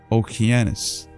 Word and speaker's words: Okeanos: The most ancient name of this river was Oceanus, which in the Greek pronunciation Okeanos, afterwards called Eagle, upon the violent eruption.